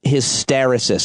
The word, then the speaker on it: hysteresis: Talk to me about the idea of hysteresis. Am I pronouncing that right?